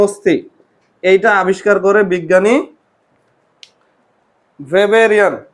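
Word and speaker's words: Weber: অস্থিগুলা আবিষ্কার করে বিজ্ঞানী, তোমাদের উচ্চারণে আসবে ওয়েবার, আর আমরা বলতেছি ভেবার। এখন কথা হচ্ছে ভেবার জার্মান বিজ্ঞানী। কোন দেশের বিজ্ঞানী? জার্মান। জার্মানিতে ডাব্লু থাকলেও উচ্চারণ হয় ভি।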